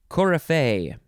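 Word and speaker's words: coryphée: that's how you say it next word huh cora faye cora fay c-o-r-y p-h-e-e the first e has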